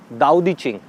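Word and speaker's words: 道德经: Name of this book is दाओ दी चिंग। हम इसको पढ़ते हैं तो इट इज़ ताओ, TAO, बट we pronounce it एज दाओ।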